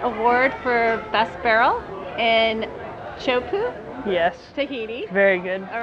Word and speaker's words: Teahupo'o: And so Alex, congratulations on your Teahupo'o award for Best Barrel in Teahupo'o, Yes. Tahiti. Very good All pronouncing it.